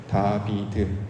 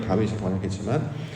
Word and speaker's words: 다윗: 다비드 요게 이제 발음은 그렇게 해요. 우리는 이걸 다윗이겠지만 다비드인데 솔로몬이 이제 어렸을 때 애기였을 때 불러진 별칭이 하나 있었어요.